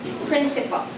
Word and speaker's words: principal: We have here the word principal. Okay, so let's pronounce that word correctly. Principal, not F, but it's P.